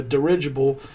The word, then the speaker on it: dirigible: watching this, is a dirigible. Did I say that right? Yes. Yeah. You said it right. It's a dirigible.